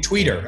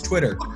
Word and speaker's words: Twitter: pronouncing that you know they're saying tweeter I need to learn about tweeter know it's Twitter Facebook was just being